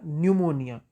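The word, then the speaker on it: pneumonia: पहले एक वड़ा या न्यूमोनिया इसमें पी साइलेंट है इसलिए से न्यूमोनिया पड़ते हैं यह एक तरह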